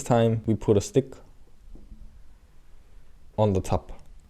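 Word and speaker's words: ㅗ: So the key difference between these two is that when you pronounce this one, you have smaller circle of your lips. So you have O compared to this, and this is Aw.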